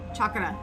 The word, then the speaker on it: chakra: And yes, it's chakra, not chakra, like chalk chakra.